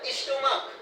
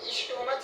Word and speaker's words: stomach: और स्टोमक, STOMACH, इसको स्टोमच नहीं स्टमक बोला जाता है। करेक्ट प्रोनाउंस होता है स्टमक, स्टमक मतलब पेट, है ना?